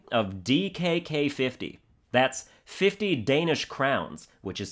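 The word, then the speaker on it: krone: That's 50 Danish crowns, which is spelled K R O N E, but it's pronounced crown.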